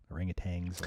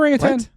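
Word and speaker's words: orangutan: it ring a t there's no no it's 10 is it a ring of 10 if you look at the spelling there's no g at the end I guess I just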